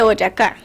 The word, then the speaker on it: Boyacá: La batalla de Boyacá. I can't pronounce that, sorry.